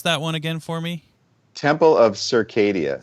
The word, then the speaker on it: Temple of Circadia: one again for me temple of circadia so okay you know you know uh the phrase that your circadian rhythm yep um your sleep